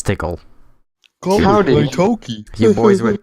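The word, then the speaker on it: Tikal: approve of this pronunciation I'm not gonna call her tical that's for sure yeah it's tickled hardened Toki you boys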